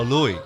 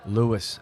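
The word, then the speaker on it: Luis: Oh, Louis. Louis. What's your full name? Louis, L-U-I-S.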